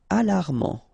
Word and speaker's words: alarmant: Alarmant. Final T not pronounced.